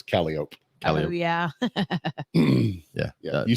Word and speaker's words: Calliope: Well, like in New Orleans, you have a street that's spelled Calliope, but it's Calliope. Oh yeah. Yeah. You say Calliope, they look at you like you're stupid.